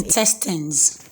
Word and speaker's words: intestines: And the last one I can give you there is intestines. Of course, there is E there before the S, but the E is silent.